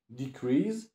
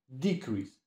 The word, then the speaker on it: decrease: Analogicznie decrease, akcent na drugą sylabę, czasownik, spadać, maleć i decrease, akcent na pierwszą sylabę, rzeczownik, spadek.